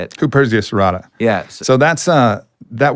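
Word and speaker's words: Huperzia serrata: but this Heria how do you say it h Persia serata yes so that's uh that works on the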